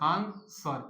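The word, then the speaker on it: answer: पढ़ते हैं आंसर तो आंसर में आंसर ए एन एस आन सर ई आ डब्लू साइलेंट है इसलिए डी ऑप्शन इज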